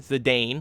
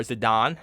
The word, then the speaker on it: Zidane: The main character, Zidane, or Zidane, however you want to pronounce it, being a prime example